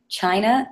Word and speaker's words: Chynna: name actually it's at china out loud it's spelled a little differently if chy and na underscore o UT l